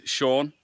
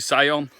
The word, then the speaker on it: Sion: info about me so my name is Sean I know it's spelt us you'd say Sion I always get trouble with that you know when you get these calls and people asking hi can I speak to say on I always have to